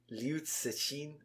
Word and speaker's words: Liu Cixin: Liu Cixin. Okay. I got one of my Chinese colleagues to help me with the pronunciation there.